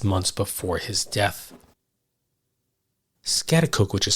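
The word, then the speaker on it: Schaghticoke: Coke New York 6 months before his death scatacook which is spelled s c h a g h t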